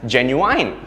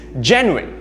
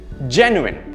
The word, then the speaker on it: genuine: the right pronunciation is genuine genuine notice how gen is stressed but the other two syllables sort of fade into the background genuine genuine right and